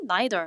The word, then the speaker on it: neither: 아닌지 happier, 더 행복한지 healthier, 더 건강한지 또는 neither 이라고 나왔는데 neither 또는 neither이라고 읽죠.